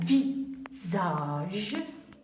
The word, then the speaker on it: visage: On a un visage. Ici, salade. Ce sont les mêmes syllabes. S-A et S-A. Ici, je prononce ça et ici, je prononce za.